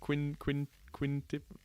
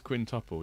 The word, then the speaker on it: quintuple: Quintip. What comes after quadruple? How do you say it? Quad. It's quintuple, yeah.